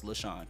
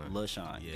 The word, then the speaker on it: LaShawn: because I'm interviewing you so it's leshawna right yeah LaShawn actually all right well thank